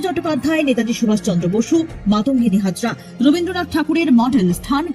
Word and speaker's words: মাতঙ্গিনী: তৃণমূলের কটাক্ষ দেশের রাষ্ট্রপতি প্রধানমন্ত্রীর উপস্থিতিতে মাতঙ্গিনী হাজরার নাম বিকৃত করে মান্তাগিনী বলা বাঙালির আবেগে সরাসরি আঘাত করার সমান।